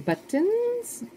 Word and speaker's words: buttons: Some buttons. Amazes me when people say it like that. Buttons. I don't know. We just don't pronounce our T's in Vermont.